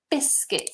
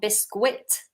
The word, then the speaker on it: biscuit: Biscuit. Listen to the pronunciation. It's not biscuit. It's biscuit. Skit. Biscuit. Okay?